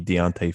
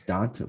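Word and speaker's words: D'Onta: So you don't think it'll be Deontay Foreman? No. Why do you say his name like that? It's Donta Foreman. Yeah, it's Donta. Whatever.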